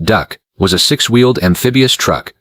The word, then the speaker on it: DUKW: The DUKW, pronounced "duck", was a six-wheeled amphibious